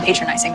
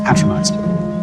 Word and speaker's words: patronizing: triple that about someone patronizing me I wasn't also it's pronounced patrimized that just reinforces my